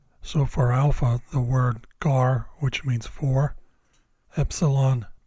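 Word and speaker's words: γάρ: these for later so for Alpha the word gar which means for Epsilon T which means end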